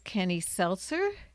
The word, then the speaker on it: Kenny Selcer: And my other guest here is Kenny Selcer.